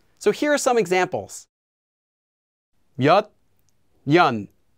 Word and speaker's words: 몇 년: And if the second syllable begins with the consonant 니은, the first consonant will become pronounced as 니은 as well.